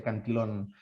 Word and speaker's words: Cantillon: efecto cantillon o anti son como con doble l pero se pronuncia canción donde se produce estas